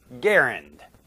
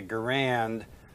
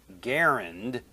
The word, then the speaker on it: Garand: that it was pronounced with G as in go and the stress on the first syllable to rhyme with parent, except the final sound is D instead of T.